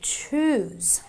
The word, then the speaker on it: choose: So the SE is pronounced as a Z or a Z, so I say choose.